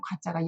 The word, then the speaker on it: 過: 그래서 과유불급이다 이럴 때도 쓰는 과자가 여기에 있네요. 자, 삐뚤삐뚤한 일, 삐뚤삐뚤한 입모양, 삐뚤삐뚤 삐쭉삐쭉 하면서 잘못했습니다. 지난 나의 잘못한 일 허물입니다. 이렇게 외우시면 정말 좋겠습니다. 와 발음이 과가 됐어요. 주의 좀 하셔야 되겠습니다.